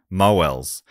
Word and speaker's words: Mowles: Mo as in mowing the lawn and Els as in Ernie Els. Ah, the big easy. Okay, so Mowels.